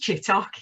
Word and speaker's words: Chittock: I know about you your name's chittick I think you are name is pronounced chittock yeah okay you're married